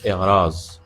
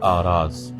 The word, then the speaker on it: اغراض: صحیح تلفظ ہے دہر۔ اس کے بعد ایک اور لفظ ہے اغراض، جو کہ غرض کی جمع ہے، یہ بھی تلفظ کے لحاظ سے غلط ہے، اس کا صحیح تلفظ ہے آراز۔ ایک اور لفظ ہمارے